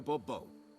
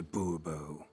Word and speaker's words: Bubo: yet as Monsieur de Bobo fine Monsieur de Bubo the emphasis falls on the last syllable Bobo mm-hmm see now I'd